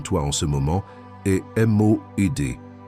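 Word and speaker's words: מועד: La parole hébraïque qui définit exactement ce qui se passe en toi en ce moment est M-O-E-D. Prononce-la avec moi, où que tu sois.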